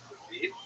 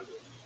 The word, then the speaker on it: Lviv: They were dominated by the city of Lviv, or Lviv, as it would be pronounced by people in Russia.